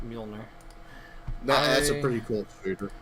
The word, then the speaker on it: Mjolnir: Yeah, I don't know how to pronounce it or spell it, so... Yeah, it's Mjolnir.